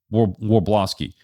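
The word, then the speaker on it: Wrobleski: Warblowski.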